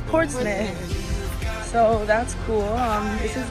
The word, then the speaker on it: Portsmouth: It's not pronounced Portsmouth, it's Portsmouth.